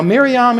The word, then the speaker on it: Miriam: Now, Miriam is the Jewish pronunciation, the Hebrew pronunciation.